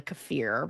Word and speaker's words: kefir: eating fermented food sourkraut cfir or kefir however you might say it it's actually cfir I think I've looked at how to say it on YouTube most people say it wrong but um things like